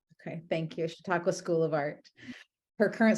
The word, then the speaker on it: Chautauqua: you say this School of Arts name Hannah Chautauqua okay thank you Chautauqua School of Art her current Studio practice emphasizes